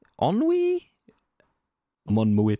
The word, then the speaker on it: ennui: Shogun says Enui is pronounced like Thierry's surname. What? Enre? Nice. Thierry Enre? Nice. Is it Ennui? Ennui?